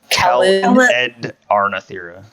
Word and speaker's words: Calendarnathera: No, not like a calendar. Yeah. Calendarnathera.